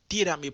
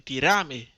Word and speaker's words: tírame: Dominicain la bdou tírame por WhatsApp. Rappelez-nous bien, faut nous accentuer sur premier syllabe nan. Ti. Pingan di tirame. Tirame. Faut nous accentuer sur ti.